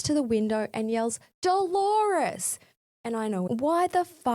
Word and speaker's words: Dolores: Moments later, after she leaves, he realizes it's Dolores, rhyming with the common pronunciation of clitoris. He runs to the window and yells Dolores.